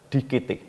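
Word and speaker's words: διώκετε: Kata berusahalah dalam bahasa Yunani dikatakan dikete. Ya, cara tulisannya DIWKETE. Jadi cara membacanya DIKT.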